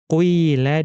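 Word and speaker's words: قيل: Jadi dibaca qila dan ghuidha. Dhammahnya sedikit saja, kemudian dibaca kasroh yang lebih panjang.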